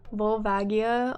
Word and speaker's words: Volvagia: is a weird ass name vol vagi uh volvagia okay so i said it right then because